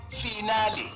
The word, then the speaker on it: finale: mispronunciation today's word finale origin Italian pronunciation finale meaning the last part of a series commonly mispronounced s final as if you are